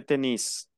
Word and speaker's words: tennis: Se pronuncia la S. Le tennis.